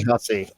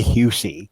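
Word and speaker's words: Hussey: Um say Hussy. There's no reason to say Husi.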